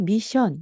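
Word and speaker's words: mission: 임무 또는 사명 이러한 것들을 미션이라고 합니다 이때도 미션 미션 미션 해서 앞으로 입술이 앞쪽으로 쭉 나가면서 소리가 나야 합니다네 이번에는요 아이 전으로 발음될 때를 살펴보도록 하겠는데요 이때는 성대가 올립니다 자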